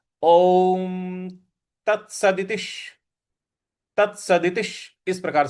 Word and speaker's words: ओम: ओम जो ओम है इसमें अ, उ और म इन तीनों का समावेश है। तो इसको उसी प्रकार से उच्चारण करना होता है। ओम ओम इस प्रकार से इसको बोला जाएगा।